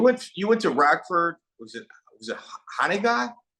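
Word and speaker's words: Hononegah: Was it Haniga? How do you say it? Hananiga.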